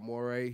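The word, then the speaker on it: Morray: Yeah, Moray.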